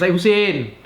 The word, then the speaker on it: Hussein: How to pronounce his real name is Hussein.